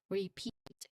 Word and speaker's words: repeat: Repeat. Repeat. Good? Sorry. Repeat. There's a short E sound in the first syllable.